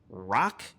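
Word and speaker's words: Roch: So with the number 1 pick, the White Sox took UCLA shortstop Rock Chalowski. I'm going to say that again. It's spelled R-O-C-H. Rock is such a cool name.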